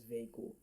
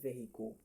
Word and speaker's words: vehicle: In fact almost everybody call this vehicle. But it is not vehicle. If you try to pronounce it using the normal VO letters or